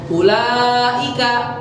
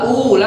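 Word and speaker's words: أولئك: Ulaika ya, bacanya kan nggak ula tapi ulaika gitu ya.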